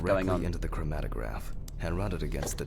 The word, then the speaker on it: chromatograph: Okay, now it's the chromatograph's turn. Chromatograph. That's how you say it, by the way, not chromograph.